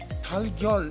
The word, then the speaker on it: 달걀: 달걀 is pure Korean word. 닭 plus al, chicken plus egg. If you repeat it quickly, tagal, that will be changed into 달걀. It is more comfortable to pronounce.